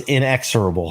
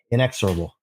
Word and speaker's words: inexorable: like to correct people but the word was inexurable it's okay so yeah let me spell that just so everybody's clear because it's a